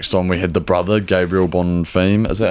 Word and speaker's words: Bonfim: And then next on we had the brother, Gabriel Bonfim.